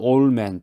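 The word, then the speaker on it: old man: 영어로 올드맨, 영어로는 올맨, D를 발음하지 않고 올맨이라고 그러는데 한국말로는 노인이죠.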